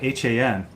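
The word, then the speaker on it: hon: For a minute there, I thought you were saying Han, H-A-N.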